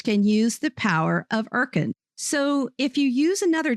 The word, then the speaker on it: Urkund: Today's sponsor is Erkend.